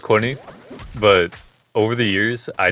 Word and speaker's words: Qunne: yeah I get this a lot so it's pronounced Courtney but over the years I just like don't